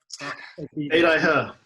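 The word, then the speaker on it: Beidaihe: And that was to Bay, that you pronounced it the other way. Beidai yeah.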